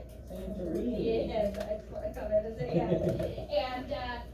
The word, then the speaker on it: Santorini: Santorini.